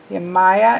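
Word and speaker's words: Yemaya: gonna look you my you Maya is how this duck is saying to pronounce it let's just peek while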